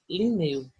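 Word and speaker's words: Lineu: É Carl von Linné, o nome dele, mas em pronúncia, Linneu.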